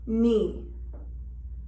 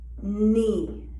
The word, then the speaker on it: knee: then we have k k is silent at the beginning of a word or syllable when followed by an n knee knee as you can see